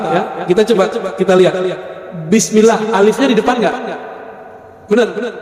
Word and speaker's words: Bismillah: Tetap bacanya Bismillah, bukan Bismillah. Terus apa lagi?